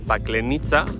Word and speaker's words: Paklenica: La cosa es también que ahora ya es Parque Nacional de Paklenica. Bueno, para nosotros sería Paklenica, pero ellos la C la pronuncian así.